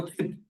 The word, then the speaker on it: चित्: उसको हो गया, इसको चित्त बोलते हैं। प्रोनाउंसिएशन में एक्चुअली CHID है, बट लिखने में CIT है।